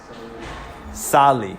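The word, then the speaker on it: salí: However, the accent mark is on the I, which means you disregard these first rules and you say the accent on the I, even though it's not the second to last.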